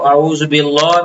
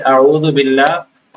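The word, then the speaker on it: أعوذ بالله: अच्छा एक और बात बाज़ लोग ये अल्लाह के लाम को आउजब्लाह में भी मोटा पढ़ लेते हैं और बिस्मिल्लाह में भी मोटा पढ़ लेते हैं।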